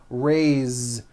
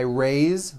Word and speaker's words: raised: though it is spelled with an S it's pronounced with a voice to Z raised so we say I raised with a voiced the ending and he raises